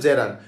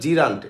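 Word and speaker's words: gerund: ওই নাউনের সাথে যদি আইএনজি থাকে তাহলে জেরান্ট। আইএনজি না থাকলে কিন্তু আর জেরান্ট হবে না। আপনারা বলে জিরান্ট এটার জিরান্ উচ্চারণ যে রান্ট জয়কারে যে রয়কার নয় ডট জেরান্ট।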